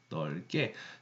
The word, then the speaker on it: 넓게: 이번 그냥 넓게가 아니라요. 넓게라고 해야 됩니다. 알겠죠? 넓게.